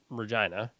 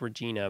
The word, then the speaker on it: Regina: The city I live in is actually called Regina. It's like Regina, but the queen at the time pronounced her name Regina, which is unfortunate when we travel.